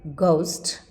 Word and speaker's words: ghost: get gate giggle jiggle sometimes it is spelled as g g for GH as in ghost a GH silent when